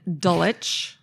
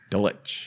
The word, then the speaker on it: Dulwich: We're going to talk about a restaurant in London in Dulich. Dulich, which is spelled Dwitch.